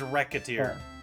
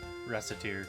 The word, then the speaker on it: Recettear: receipt no it's racketeer is how it's pronounced apparently but i say recite because it sounds better the japanese name of it is based on the french pronunciation of reset it's a fun